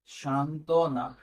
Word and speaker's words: সান্ত্বনা: আচ্ছা, সান্ত্বনা। দেখো এখানে দন্তস্ব আছে, উচ্চারণ তো দন্তস্ব হবে না, কি হবে? তালব্যাস্য হবে।